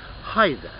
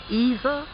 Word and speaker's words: either: either, either or neither, or either or neither. Okay, both pronunciations are okay.